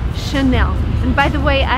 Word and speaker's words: Chanel: And the right way to pronounce it is again in French because it's from France. So the correct way to say this word is Chanel.